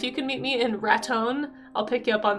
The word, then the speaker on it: Raton: If you ever listen to the radio station there, even though it's spelled like Raton, like baton, Raton, it's Raton. That's how they say it.